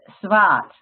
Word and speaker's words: zwart: Well, it's black is zwart. Z-W-A-A-R-T, I think you spell it. So it's the same as German, the Schwartz. It sounds the same, right?